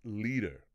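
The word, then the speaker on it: Lieder: it um it's pronounced leader as in sort of like leader but a bit softer on the D however the term lead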